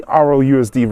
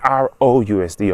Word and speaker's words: RLUSD: Try saying RLUSD really quickly. It sounds like ROUSD or ROUSD.